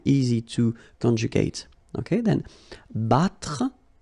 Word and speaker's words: battre: Then battre, battre, okay? Even if you've got deux T here, two letters, well, basically you've got only the sound of one, okay?